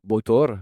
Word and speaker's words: Batar: Ça se prononce bor et ça veut dire bateau en islandais.